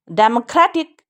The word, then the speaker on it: democratic: ये डै पे secondary stress जल्दी से बोलेंगे, इस खई को स्प्रेड करेंगे क्योंकि भी स्ट्रेस है, इस ठ को नहीं करेंगे ना, एक खी को करेंगे, तो इस खई को स्प्रेड करेंगे, बाकी किसी को भी नहीं।